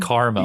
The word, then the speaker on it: Carmel: And I'm not mispronouncing caramel. It's just Carmel. Their name is Carmel.